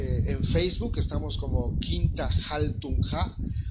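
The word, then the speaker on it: Haltunha: En Facebook estamos como Quinta Jaltunja. Jaltunja se escribe H-A-L-T-U-N-H-A, Jaltunja.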